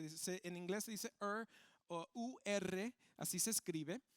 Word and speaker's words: Ur: familia de se dice en inglés se dice Ur así se escribe y de dentro de de esta familia